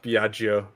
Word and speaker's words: Biagio: think i forget that biagio is pronounced biaggio because it's it's just like the joe like uh you know like jono giovanna you pronounce it like joe so oh maybe biaggio